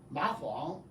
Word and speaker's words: Ma Huang: You two don't have to follow me, but they need to practice the pronunciation, okay? Ma Huang Ma Huang Ma Huang is a Chinese name.